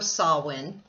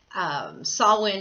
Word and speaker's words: Samhain: barmbrack on Halloween or saw one saw one is spelled Samhain you'll see that in